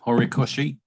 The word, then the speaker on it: Horikoshi: Can't pronounce the last word. Horikoshi. Thank you, mate. Horikoshi.